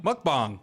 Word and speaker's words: Mukbang: Muck is pronounced as like the Pokemon name. Bang pronounced bang bong. pronounced bong. Mukbang.